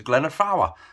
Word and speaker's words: Glyder Fawr: is straight over to glenda fowler i learned how to say it properly because i met somebody just up there and he's like yeah i've just been up to glen of flower so that's what i'm going